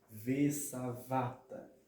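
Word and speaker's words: ושבעת: Porque a palavra ela é uma palavra mile'el, paroxítona, ok? Então, a pronúncia dessa palavra vai ser sa, va, tá, ok? Vesavata, que significa fartarás ou encherás, ok?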